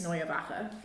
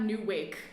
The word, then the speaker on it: Neue Wache: And my thesis is called Changing of the Guards/changing of the House: Nationalism and Memory at Berlin's Neyabaka. Oh, that's how it's pronounced.